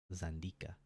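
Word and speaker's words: Xandika: Ka a the Z I'm going to pronounce it zanda a traditional War dance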